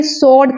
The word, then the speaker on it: sword: इसे सॉर्ड कहते हैं, तलवार, सॉर्ड। जैसे WRD को हम वर्ड कह देते हैं, लेकिन SWRD को सॉर्ड कहते हैं, यहाँ W साइलेंट में है।